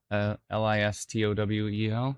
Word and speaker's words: Listowel: Did I pronounce that right? Cranbrook and eventually Listowel. Yeah. Listowel.